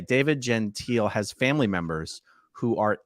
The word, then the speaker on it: Gentile: Real quick, Jeff, this comment says, I want to address this comment because the correct pronunciation of the person we're talking about is, in fact, David Gentile. It's not. Yeah, it's David Gentile.